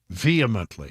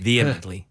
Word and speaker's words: vehemently: it vehemently so there's you don't pronounce the h vehemently vehemently V vly okay okay